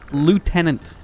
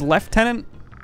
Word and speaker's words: lieutenant: pronounce the word Lieutenant Lieutenant I don't know why people pronounce as left tenant there's no F in the word true 5' 7 isn't